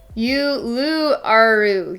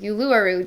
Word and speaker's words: Uluru: I'm gonna try and pronounce this. I did look it up, by the way, on Google. So it's called Uluru. Uluru.